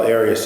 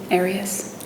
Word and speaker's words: Arias: Your name has been pronounced in most of this trial Arias. Is there another way of pronouncing it? Have you always pronounced it Arias? I've heard it pronounced about 7 different ways. I say Arias, as does the rest of my family.